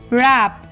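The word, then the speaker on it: wrap: with silent letter W the rule is ऑफ in silent before are और एट the beginning of a word मतलब या तो आर के पहले silent होगा डब्लू या फिर वर्ड के स्टार्टिंग में जैसे डब्लू आर आई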